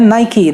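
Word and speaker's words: Nike: इट is very difficult to pronounce, कई सारे लोग इसे नाइक कह देते हैं, हमारे यहाँ तो सरनेम भी होता है नाइक, तो लेकिन इसका एक्चुअल प्रोनाउंसिएशन है नाइकी।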